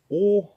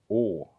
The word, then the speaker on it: å: And this one here is å, like in pour, or ball, or short, å.